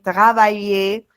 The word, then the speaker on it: travailler: Aimer, cuisiner, travailler. La R no se pronuncia.